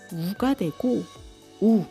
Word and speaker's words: ㅜ: Ngược lại, nếu bạn thêm một dấu chấm vào cuối ㅡ , nó sẽ trở thành ㅜ và đọc là u [u].